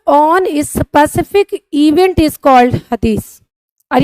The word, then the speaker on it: Hadith: सुन्ना एंड हदीस, हम बोलते हदीस है स्टूडेंट, बट उसको लिखते हदीत है, TH होता है। तो अगर जब भी मैं हदीस बोलूं तो आप ये मत कहना कि ma'am pronunciation is something different.